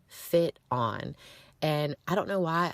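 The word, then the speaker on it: FitOn: Like the word fit and the word on put together.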